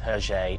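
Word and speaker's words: Hergé: the little factoid that herje is simply the initials pronounced with the weird french pronunciation of letters oh i shouldn't really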